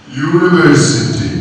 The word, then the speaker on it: university: യൂണിവേഴ്സിറ്റി, യൂണിവേഴ്സിറ്റി എന്ന വാക്കിന്റെ കുഴപ്പം എന്താണ്? അത് ഏത് സൗണ്ടിൽ തുടങ്ങുന്നു? യാ, അല്ലേ?